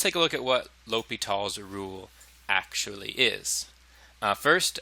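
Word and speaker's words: L'Hôpital: And the way you say that is Li Tall. It's Li Tall's rule.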